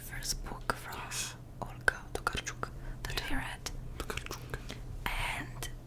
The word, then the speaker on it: Tokarczuk: the Dead by Olga Tokarczuk. And I know that you pronounce her name like this because of a friend that is Polish and she told me how to pronounce it.